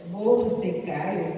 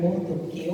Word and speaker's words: Mordecai: O livro de Esther é um livro escrito, talvez por Mordecai ou Mordoqueu, como alguns gostam de pronunciar.